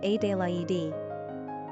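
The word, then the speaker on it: Adélaïde: Adelaide is also the French spelling rendered as Adelaide and pronounced Adelaide.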